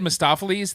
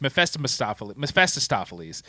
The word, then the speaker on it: Mephistopheles: And I don't know, you got Peter Fonda is, you said Mephistopheles. That is the way it should have been, but it's Mephistopheles. There's extra syllables in here, they say. They slam together.